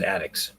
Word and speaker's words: Addax: I pronounce it ADDAX. This say ADDAX and ADDAX.